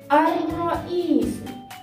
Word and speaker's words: الرئيس: ثانيا الرئيس، في النطق لا نسمع حرف اللام أر، وفي الكتابة لا يوجد عليه أي حركة، وحرف الراء بعد اللام يكون مشددة. الرئيس.